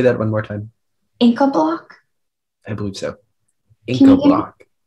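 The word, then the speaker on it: Incabloc: Inca block?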